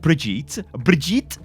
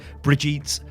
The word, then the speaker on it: Brigitte: Now, if you look at Brigitte, I want to say Brigitte, right? Because I guess I'm English, right? But I think it's Brigitte. At least that's how it's pronounced.